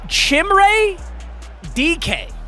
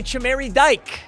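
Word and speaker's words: Chimere Dike: It is Chimray DK, like DK Metcalf. I was going to say Chamari Dyke, so I was so far off.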